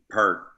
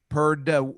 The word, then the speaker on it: Peart: Pert. Perd, like with a D? Or Pert with a T. They tried to change it to Peart like halfway through.